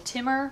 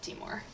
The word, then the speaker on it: Timor: They're native to the Timor Islands. Well, that's how you pronounce the islands, so that's how we pronounce the lizard species. I know some people call them Timor monitors, but we like Timor.